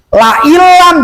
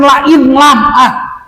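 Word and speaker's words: لئن لم: La ilam, jangan la in lam. Kalau la in lam salah hukum. Awas, hati-hati. Kenapa salah hukum? Berani saya mengatakan kalau dibaca lain lam salah hukum. Sebab ada nun mati ke depan ada huruf lam.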